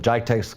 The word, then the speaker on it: Geidea: And I think I pronounced Geidea correctly that time, correct?